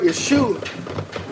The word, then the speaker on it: Yeshu: I pointed out that this word yeshu spelled ye s u actually is a two- syllable word the first syllable is ye and the second syllable is Sue all right now if